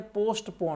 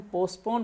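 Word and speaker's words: postpone: My dear, कुछ लोग इस टी को भी पढ़ देते हैं पोस्टपोन, वो गलत होता है। यकीन ना आए तो डिक्शनरी पलट कर देख लें, इसे हम पोस्टपोन पढ़ते हैं।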